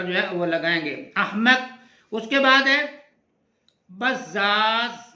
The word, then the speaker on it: احمق: کو نوٹ کرنا ہے، تو یہ الف کے اوپر زبر لگا دیا گیا، اور جو ہے اس کو آپ ساکن کریں گے، اور میم کو پھر جو ہے وہ